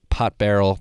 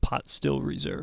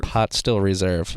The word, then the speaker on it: Pot Still Reserve: This podcast is sponsored by Willet Pot Barrel Bourbon. Did I say that correctly? Pot Still Reserve. Pot Still Reserve. I did not say it correctly.